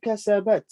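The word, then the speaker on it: كسبت: If you stop, then you say kasabat.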